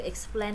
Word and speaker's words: explain: Không có plain plain bình thường đâu mà là X nè. Xong rồi plain nè. Explain. Explain. Bài này bà đọc ngắn quá à. Từ từ slow motion chút nè. X xong rồi explain, nó là vần A chứ không phải là blend blend blend vậy đâu.